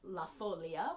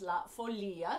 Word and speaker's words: La Folia: Folia for much of my life I have pronounced this La Folia which you may also know it as that